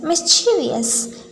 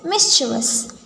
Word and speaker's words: mischievous: instead of library library frequently pronounced as mischievous instead of the correct mischevous mischevous often mispronounced as